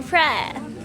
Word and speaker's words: Phrae: Welcome to Phrae.